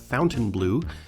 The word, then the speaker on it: Fontainebleau: Miami Showdown Miami Beach's Fontainebleau Hotel pronounced by the locals as Fountain Blue is a famous local